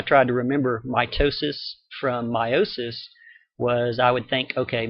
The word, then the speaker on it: meiosis: more in Chapter 13 called meiosis sometimes pronounced meosis and I'll tell you why